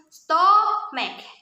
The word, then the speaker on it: stomach: However, this word actually ends with a hard K sound like black, duck, and trick, which means it is actually pronounced stomach.